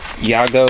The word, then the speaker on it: Yago: Yago is how you would say it In English. Y-A-G-O. I'm not sure how we pronounce it in Spanish.